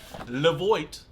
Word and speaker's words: LEVOIT: It's by LEVOIT. Not John Voight, but LEVOIT. Maybe the Europeans call it LEVOIT or something like that.